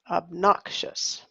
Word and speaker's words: obnoxious: obnoxious obnoxious hey excellent so we look at this word as AB knock shuss uh-huh obnoxious okay messy let's see neat